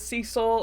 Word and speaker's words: Cecil: like for instance like it is Cecil and not cesil or whatever other pronunciation